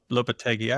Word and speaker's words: Lopetegui: So this is Julian Lopetegui. I always say his name wrong.